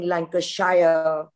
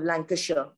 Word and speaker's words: Lancashire: get really irritated with somebody saying lanka shire instead of lancashire and some kids sitting